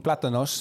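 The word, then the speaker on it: plátanos: I was making platanos mainly, which is the correct way to say this fried banana thing that you two are arguing over.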